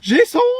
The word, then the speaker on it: Jason: Ouais, ça se prononce plutôt Jason comme à l'américaine. Jason ? Jason. Jesson.